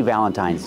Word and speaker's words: Valentine's: say Happy Valentine's Day pronunciation use a long I at the end Happy Valentine's Day don't say the Valentine's